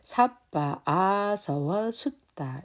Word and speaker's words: Sabbāsavasutta: 그래서 삿바, 아서워, 숫다 이렇게 발음하시면 되고요.